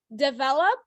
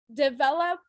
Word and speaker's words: develop: the last syllable okay so develop develop uh the O sounds like what is called the schwa I don't know why